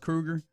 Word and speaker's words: Kroger: Kroger loves HB. Oh. Uh, for the A32, I mean, you're probably right, but I realize I have not checked the pronunciation, guy. Supposedly, it's pronounced Krueger.